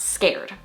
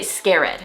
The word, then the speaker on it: scared: This word is pronounced scared, but so many of my past students, like 90% of them, would say scared, splitting it up into 2 syllables, scare plus ed.